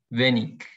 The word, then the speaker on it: wenig: A veces IG al final se pronuncia como ich, otras como ik. Wenig.